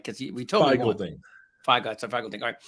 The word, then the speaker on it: Feigl-Ding: Feigl-Ding.